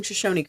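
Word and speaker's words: Shoshone: Uh I know you're pronouncing Shosonyi correct.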